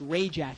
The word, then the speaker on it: Rajic: It's Tom Rajic. It's Ray Jack, he goes by.